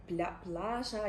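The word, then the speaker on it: Plaža: Плаза ми його називаємо А взагалі воно вимовляється як плажа Якось так Ну в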